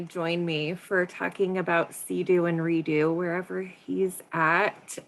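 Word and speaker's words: CEADU: both projects um so Sea-Doo is the Council of expert advisors on drug use um how do I move this is our logo um we pronounce it Sea-Doo but it's c-e-a-d-u and um really the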